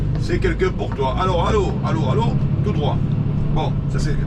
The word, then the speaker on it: Allauch: Alors, allô, tout droit. Bon, ça se prononce Aloche, hein, je vous avais déjà dit, ça se prononce, ça s'écrit Aloche, ça se prononce Allô. Comme allô, écoute, maman.